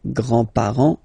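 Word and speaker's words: grands: with the the grandparents remember you don't pronounce this final s here Grand Okay so grandfather remember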